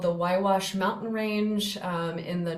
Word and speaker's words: Huayhuash: Um so then moving on, um this takes place in what's called the Wwash Mountain Range, um in the northern Peruvian Andes.